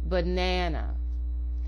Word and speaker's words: banana: Look at the word banana. There are 3 A's in this word, but only the second A gets its full pronunciation. The other 2 A's are reduced to a short, quick schwa or sound. The second A is longer and gets a full A production, so banana.